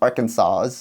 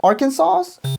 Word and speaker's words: Arkansas: I don't think guys I don't think I should move to Arkansas. You know how to pronounce that word? Arkansas? Nope. Oh. You're going to get arrested. Oh. Arkansas?